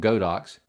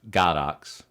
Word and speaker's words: Godox: I know a lot of people say it's supposed to be pronounced Godox, but I'll just mispronounce it. It's Godox with me.